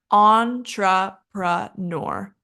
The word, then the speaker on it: entrepreneur: British jewelry jewelry and then we have entrepreneur entrepreneur entrepreneur and our stress is the first syllable and then finally we